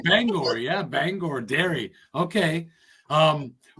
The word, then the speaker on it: Bangor: It's not Bangor. Oh, you said it right. People always go Bangor. I go Bangor. No, it's Bangor.